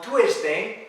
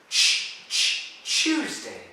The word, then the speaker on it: Tuesday: On Tuesday, listen, Tuesday. Como CH. Tuesday.